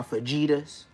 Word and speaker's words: fajita: Like I said, putting seasoning on my fajitas. Say it like an American, fajita. It's not fajita, but I feel you though.